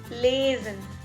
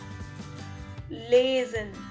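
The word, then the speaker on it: lesen: let's begin so our first verb is lazin which means to read lazin which means to read l-e-s-e-n lasen then we have fanzine fanzine f-e-r-n-s-a-h-e-n transient then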